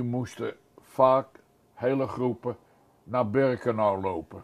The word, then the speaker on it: Birkenau: En het heette Birkenau. Wat wij in Holland hoorden we voor het eerst die naam, maar toen werd het uitgesproken als Birkenheim.